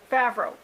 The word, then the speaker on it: Favreau: reading the title but i don't want to mispronounce his name really bad so i'm going to have it on the screen here favreau john favreau you know who plays happy in